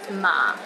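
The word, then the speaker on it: 麻: word or sentences too for example ma in the first tone means mother while ma in the fourth tone means linen and ma in the fifth tone means horse don't get them mixed up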